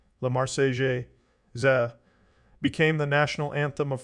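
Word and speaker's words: La Marseillaise: the Enlightenment and the Republic Lamar sales French pronunciation La Marseille za became the National Anthem of France the song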